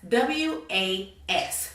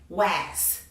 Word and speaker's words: was: As you can see, the beginning sound of W makes its initial sound, w, but that A takes on a U sound, right? And that S now assumes a Z sound, z, was, right?